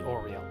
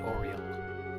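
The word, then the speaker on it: Aureole: so it is the oreo yeah i know i said this last time i actually looked up how you're supposed to pronounce it it's pronounced like oriole like the bird not what i was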